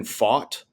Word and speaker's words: Pfaadt: Yeah, this poor young man, I've been purposely mispronouncing his last name all year, but Brandon Pfaadt. You got it. That's it. No, I know. We on our podcast we've jokingly called this poor fellow Brandon Fat for no reason, just because we're children.